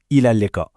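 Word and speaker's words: إلى اللقاء: Alors, pour dire au revoir, l'expression la plus courante, c'est ilalka. Ça se prononce ilalka.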